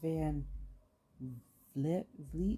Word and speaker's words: Van Vliet: But I'm like, it's crazy because my son and I watched the interview with Chris Van Vliet, is how you say his name.